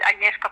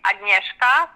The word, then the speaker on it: Agnieszka: It's Agnieszka speaking. Oh, how do I say your name? It's Agnieszka. Agnieszka.